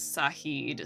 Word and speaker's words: Sahed: pronounce this man's name I called him Shahid the first time just because that's what Google brought up s spell h e d and then I think webtune official put out a reel where they refer to him as sahed so I think is the the canonical pronunciation sahed yes and I would